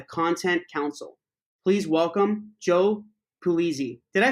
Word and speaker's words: Pulizzi: It's pretty close. You can get away with that, but it's Pulizzi. Pulizzi. I'm Greek. I can't even say it correctly. You know what? It's funny. Most of the time I hear Paluzzi. I mean, you were close. So like if you were in Sicily, that's exact.